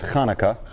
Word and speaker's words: Hanukkah: huh happy Comics so the best pronunciation is Hanukkah but the heart is very hard for a lot of people to say it it is people love